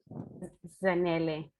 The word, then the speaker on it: Zanele: Zanele.